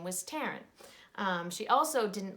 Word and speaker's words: Taryn: her name is Tarun ta ry N and when she would tell people her name they would say she would say my name is Taryn and they'd take Karen and she'd say no Taryn and it would go